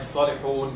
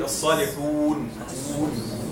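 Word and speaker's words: الصالحين: Some people, they say it like salihun. This is not right. It should be as-salihun, okay?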